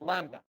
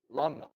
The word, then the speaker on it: lambda: the B, so it's lambda or lambda. Greek way probably saying it is lambda. No B, no B, no B, no B. Like saying limb or lamb, so on.